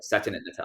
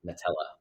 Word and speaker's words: Nadella: I think Satya, or Satya Nadella, I say his name. Yeah. I keep saying Nutella, but it's not that.